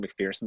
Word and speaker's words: McPherson: always suggest mcpherson's books you see i said mcpherson that time by the way uh-huh that's how he pronounces it so maybe he's right